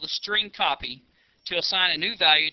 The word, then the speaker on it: strcpy: line of code St Str cpy which is pronounced string copy left parentheses and then